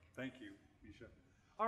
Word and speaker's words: Mica: So with that, I'm going to introduce first Mica. Misha, I sometimes mispronounce her name. Some people say it's pronounce it Mica, but it's Misha, right?